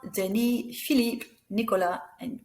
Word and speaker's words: Nicolas: Nicolas, we don't pronounce the S.